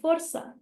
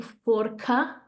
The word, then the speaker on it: força: That C, by the way, because it has that little beard on it, that's why we're not saying forca, okay? That cedilla tells us that we have to make it a S, okay?